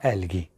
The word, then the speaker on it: algae: आपने एल्गी, ठीक है, एल्गी की स्पेलिंग में चाहे ALGAE आता है, पर बेटा उसको एल्गी पढ़ते हैं, यानी बड़ी ई का साउंड होता है, ठीक है।